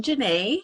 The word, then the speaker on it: Jenèt: so um I am Jana um a lot of people are are hesitant to uh pronounce it they're unsure um but yes exactly so it rhymes with Renee that's what I usually